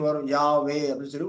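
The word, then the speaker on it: Yahweh: வல்லமைமிக்க ஒரு சிருஷ்டிகர் இருக்கிறாரு அவருடைய நாமம் என்னன்னு பார்த்தோம்னா யாவே அப்படிங்கறது அவருடைய நாமமாய் இருக்கிறது ஒரிஜினலா ஹீப் வார்த்தையின் படி பார்த்தோம்னாஹடள்ஹ அதான் வரும் உச்சரிப்பு அப்படி பார்க்கும்போது அது யாவேடஹ அப்படின்னு சொல்லிட்டு உச்சரிக்கிற உச்சரிப்பு வரும் யாவே அப்படின்னு சொல்லி உச்சரிப்பு வரக்கூடியதா இருக்குது அவருடைய நாமம் யாவை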